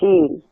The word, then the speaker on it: Sidhe: Any Irish person you talk to will tell you about the Sidhe. It's pronounced different than it's spelled.